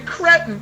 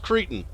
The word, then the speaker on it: cretin: You manhandled me like a cretin. Nope. You just over there First of all, madam, not to be a stickler, but it's pronounced cretin.